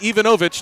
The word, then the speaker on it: Ivanovich: along the boards it's Ivanovic I think I pronounced his name differently every single time he'll be Ivanovich next time and I believe that's correct and then it'll be